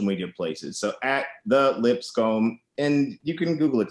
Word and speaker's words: Lipscombe: So at the Lipscombe, and you can Google it to spell it properly, but it's lips on your face, a comey hair with an E on the end.